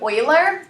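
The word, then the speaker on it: Euler: the person who discovered it um is named Oiler which is spelled e u l e r so so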